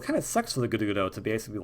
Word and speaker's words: Gerudo: proper way to pronounce Gerudo now, because I always kind of roll the R with it, and I wasn't sure if that was right, but it seems like that's the right way.